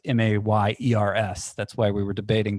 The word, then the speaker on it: Mayers: Mike Myers is. It's Mayers. That's why we were debating the pronunciation.